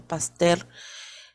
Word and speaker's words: Pasteur: a louis pasteur claro se escribe pasteur pero se pronuncia pastel desarrollo la vacuna antirrábica